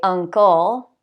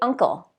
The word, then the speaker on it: uncle: Uncle. I don't say uncle, I say uncle.